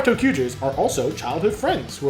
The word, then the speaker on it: Tokuger: These Resha are driven by 5 warriors known as the Tokugers, which, by the way, Tokuger is spelled T-O-Q-G-E-R. So literally T-O-Q. Tokugers.